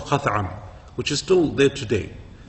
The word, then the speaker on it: Khath'am: How you pronounce it? Khath'am.